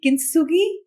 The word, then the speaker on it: Kintsugi: So let's talk about the final story, Kintsugi. Have I got the pronunciation right?